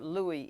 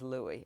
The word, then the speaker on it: Louis: that I spoke to one said it was lwis and another said it was Louis so I just gave up and chose the one I preferred which is Louie I just call him